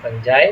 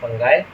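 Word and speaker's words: Fungi: Unicellular eukaryotic like amoeba kingdom फंजाई या kingdom फंगाई कोई भी आप इसका नाम ले सकते हैं। वैसे अभी इनको किंगडम फंगाई के नाम से भी प्रोनाउंस किया जाता है।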